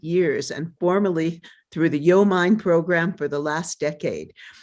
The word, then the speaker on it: YoMind: Sharon, I just loved how you said Yo Mind, because the students, the minute they hear that, that's exactly how they say it. There's several interpretations, but it's like Yo Mind.